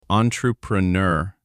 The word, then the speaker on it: entrepreneur: Entrepreneur. French origin. So the ending is the key. Nur, not nor pronunciation.